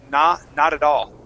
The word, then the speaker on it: not at all: and even from there, okay, we would switch some of those T sounds to a D. So we'd say not at all. Nah, not at all.